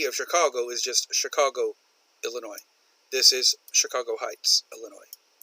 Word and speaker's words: Illinois: for the state of Illinois it is an S that the S is silent we do not say Illinois's at least some people